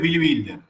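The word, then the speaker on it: Billy Wilder: Bueno, no lo eh el que vos decí es Billy Builder. Builder se pronuncia.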